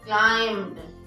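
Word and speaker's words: climbed: सो लगाएंगे क्या being क्लाइम्ड सी एल आई एम बी ए ई डी बी is silent here क्लाइम्ड बाय द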